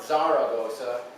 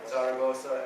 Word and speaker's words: Zaragoza: So Sarah, like the girl's name, and then Gossa. Or Zaragoza, depending on if you're saying it as a Portuguese or as Spanish, right? Zaragoza if you're Portuguese.